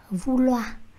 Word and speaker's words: vouloir: Tất cả các cái đuôi trong tiếng Pháp mà có chữ R thì các bạn sẽ phải đọc là R. Có thể đọc mạnh, có thể đọc nhẹ, tuy nhiên nó phải xuất hiện.